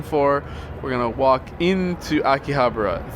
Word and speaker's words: Akihabara: we're gonna walk into a key Habra the Akihabara proper I'll call it Akihabara is the proper pronunciation and the name means